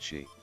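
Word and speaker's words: Sídhe: In Ireland, they are the Sid, pronounced she.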